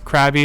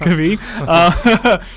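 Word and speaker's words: Krabi: to be going to it could be or crabby is we were made fun of for calling it i guess it's properly pronounced could be so there's i mean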